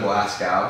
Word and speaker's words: Glasgow: GLA. Go, right? GOW. Yeah. Glasgow. Oh, I'm saying gal, not go.